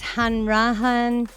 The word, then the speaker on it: Hanrahan: So, his last name is pronounced Yiannopoulos. And yep, he was born in 198. No, before that is Hanrahan.